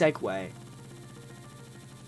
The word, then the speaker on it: segue: Seu is different from segue, but it's it's still pronounced segue.